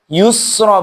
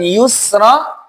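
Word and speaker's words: يسرى: Berikutnya teman-teman, hati-hati dengan huruf sin. Yusra, usra. Ini seringkali sin berubah menjadi sad. Fasanuyassiruhu lil yusra, pakai sin. Fasanuyassiruhu lil usra, juga pakai sin. Jangan sampai dibaca yusra, bibirnya full manyun.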